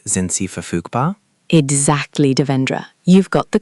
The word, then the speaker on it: verfügbar: Available is verfügbar, verfügbar, and busy or occupied is besetzt, besetzt.